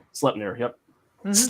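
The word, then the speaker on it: Sleipnir: many legged horses named slutner slutner Yep this is like slapped or slip God yeah right it's pronounced like the Yiddish schlep yep exactly um and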